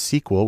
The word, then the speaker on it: SQL: common language there is SQL usually pronounced sequel which stands for structured query language because that's where the